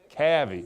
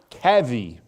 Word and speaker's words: Cavy: Cavy. Say that again. Cavy. C-A-V-Y. I'll spell it right here in a second.